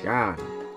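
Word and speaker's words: Seam: pronounced Sean.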